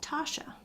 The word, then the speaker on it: Tasha: Let's go back to, she says her name is just pronounced Tasha.